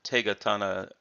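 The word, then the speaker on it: 手刀: and we see that indeed the the the take etana is the pronunciation that is preferred for the for this pair of characters and by the way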